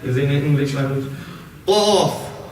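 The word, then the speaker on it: ق: Qaf. Qaf. Kaf. Qaf. Bit further back.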